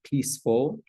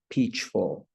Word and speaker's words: peaceful: First, I heard someone mention peaceful, but they used the hard C, peachful. So this C right here, even though it's a C, but in English, we pronounce it with the S sound. So it's not peachful, it's peaceful.